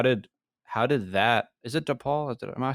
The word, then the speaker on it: DePaul: Is it DePaul? Am I saying it right? Yes, DePaul.